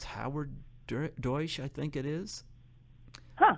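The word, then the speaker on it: Deutch: Is that how you pronounce her last name, Dersch? Deutsch. Deutsch.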